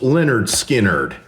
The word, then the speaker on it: Lynyrd Skynyrd: I'm talking about Led Zeppelin 4 versus Leonard Skinnard, pronounced Leonard Skinnard.